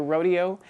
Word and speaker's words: Rodeo: music and includes Aaron Copeland's Rodeo or Rodeo um I guess it's pronounced rodeo in the artistic circles but it's about rodeos